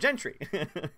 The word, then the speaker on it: Gentry: um let's see will Gentry says thanks for knowing how to pronounce my surname lots people get it wrong seriously what do they say Gentry Soviets likes very straightforward Gentry I don't know I'm